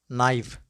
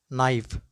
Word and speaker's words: knife: the words which commence with cairn then k is not pronounced let's go with some